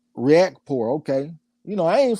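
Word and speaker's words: Riakporhe: you lady chan said richard surname is pronounced react react poor okay you know i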